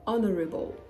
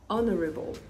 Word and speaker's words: honorable: Same goes for honorable, honorable. Now let's talk about words where the H letter doesn't start, it's in the middle, but it is absolutely silent.